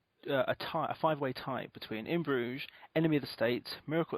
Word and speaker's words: Bruges: In Burgess. It's pronounced Bruges, Kat.